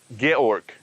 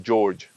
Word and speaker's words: Georg: was he's german and his name pronounced correct pronunciation actually georg but we we called him george and he figured out that this is the